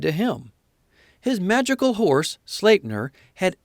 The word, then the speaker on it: Sleipnir: Thus, when going to war, it is on the back of his 8-legged horse, Sleipnir, pronounced Sleipnir.